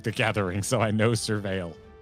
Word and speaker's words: Surveil: Gathering, so I know Surveil. Oh, is that how it's said? That's disappointing. Why? Well, because I thought it was Servile.